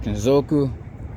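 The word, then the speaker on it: 金属: It's called Kenzoku. I think the U is supposed to be silent.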